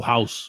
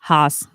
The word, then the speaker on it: Haus: Waffle House. Haas. Isn't it Haas? No, it's house. It's pronounced House. as in house.